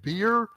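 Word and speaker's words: bier: better word is a beer or a litter that is what both of these things are right here this word this right here is a beer b-i-e-r but it's pronounced just like the drink um this might look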